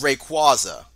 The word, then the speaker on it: Rayquaza: with Cosmo gay rayquaza know and I also pronounce it correctly there we go it's rayquaza no that's right it's rayquaza you uncultured [